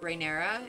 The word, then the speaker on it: Rhaenyra: young girls, Alicent and Rhaenyra, maybe? Is that how you say it? I think. But I like them. Or Rhaenyris. There's no S. It's just like Rhaenyra. And she's Rhaenyra. Very, very bold.